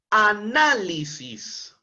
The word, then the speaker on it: análisis: de la misma manera análisis este es una palabra esdrújula porque Cuando hacemos la separación en sílabas tendr anisis es decir está en la penúltima sílaba la mayor entonación de voz en la sílaba na y como es una palabra esdrújula tiene que ser tildada obligatoriamente todas las palabras esdrújulas